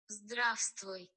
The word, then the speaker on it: Здравствуй: Здравствуй. Do you know where it's from? Здравствуй. What? So it's Russian. Zdrastoy?